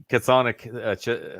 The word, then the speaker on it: chthonic: He's a chthonic.